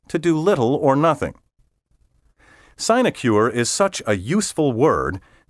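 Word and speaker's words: sinecure: final 10 keywords in level 8 word 41 sign acure si n e CU r e a position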